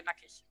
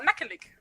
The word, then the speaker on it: nackig: Well, I mean, it's like, it depends on the dialect how you say it, but over here you would say nackig. Okay. Or nackelig.